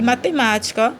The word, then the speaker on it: matemática: é a mais forte e matemática matemática também é a antepenúltima né Essa é a